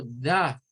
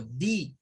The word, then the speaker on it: the: omitir el uso de tanto da o di porque se tiene dos sonidos y eso es lo